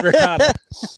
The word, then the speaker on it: ricotta: I apparently don't know how to pronounce it. I would say ricotta. That's fine. It's like potato potato. You know, there really isn't a wrong way to do it.